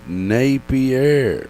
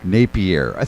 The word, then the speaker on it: Napier: and indeed it is Napier. Napier.